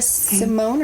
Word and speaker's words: Simone: Anyways, this week we are going to be covering Priest by Sierra Simone or Simon. I don't know how you pronounce it. I would say Simone. That's how I say it.